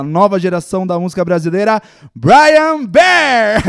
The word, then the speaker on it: Bryan Behr: É Brian Bear? Isso, exato. Porque já falaram. De tudo. Brian Beer, né? Brian Bear, Brian Beer, de tudo.